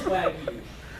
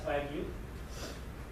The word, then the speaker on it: Wagyu: So first, what is Wagyu? It's broken down into two syllables.